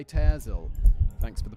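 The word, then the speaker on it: Pitezel: the three missing children of Benjamin pel P pyzel thanks for the pronunciation guy David I'll do my best to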